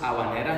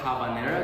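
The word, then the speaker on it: habanera: way we pronounce it aan not havanera because the H is silent in Spanish as really know so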